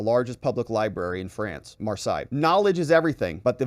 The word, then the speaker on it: Marseille: to all of this Marseille is how you say it sorry I'm not French